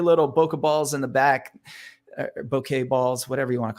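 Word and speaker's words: bokeh: is the correct thank you yeah it's it's bouquet is the the correct pronunciation but uh most people will just say Boca which is the out of focus element and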